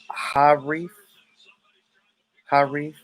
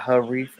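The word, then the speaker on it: Harith: definitely see that oh you pronounce it like ha hari harry not not her reef okay i'm sorry man yeah uh yeah those arabic names are definitely tricky to um pronounce but um because in america the way it's spelled haris that's how we pronounce it in america h-a-r-i-t-h haris but but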